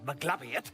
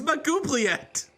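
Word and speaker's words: Maglubiyet: That is absolutely not how you say it. I'm sorry, Maglabiet? No. How are you supposed to say it? I've actually never heard it said out loud. It's Magubliet. No, absolutely not.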